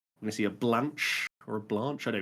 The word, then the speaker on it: Blanche: I think it's Blanche. That's the Blanche. French. That's closer to the French pronunciation, anyways.